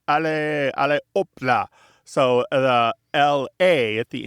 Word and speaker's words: hop là: In French, they also say allez, allez, hop là.